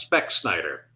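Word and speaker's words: specksynder: are surrounded by Americans that would be pronounced spec Snider it's very good that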